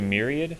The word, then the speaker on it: myriad: Are you trying to do myriad?